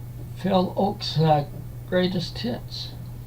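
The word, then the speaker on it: Ochs: Pickwick, and it's Phil Oak's Greatest Hits, or Ox, I think it's pronounced. So, and next is a Phase 4 record.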